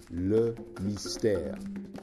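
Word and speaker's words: Le Mystère: for all occasions by the way Lily stairs pronounced look nice tear this is the tisha bra and the reason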